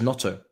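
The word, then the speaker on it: Gnonto: Oh, it's just Notto. They're cussing me again for the pronunciation. Notono. Oh, the G is silent.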